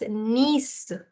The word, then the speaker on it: Nice: So I'm going to sound it as Nice. Nice. The I is the sound of E in French, so it's Nice.